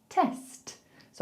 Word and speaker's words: tests: So let's take the S away from it first. Let's just say test, test. So I want to hear the S and the T. Don't just give me the S. I don't want to hear test. I want to hear test, test. And then we got to put another S on the end. So we go tests, tests, tests.